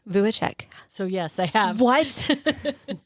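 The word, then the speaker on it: Vujicic: Vuichek. Vuichek.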